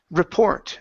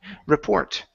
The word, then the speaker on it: report: Instead of report, this word is pronounced report. The stress is on the end. Report.